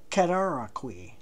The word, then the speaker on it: Cataraqui: And just incidentally, that name is spelled C-A-T-A-R-A-Q-U-I. Cataraqui.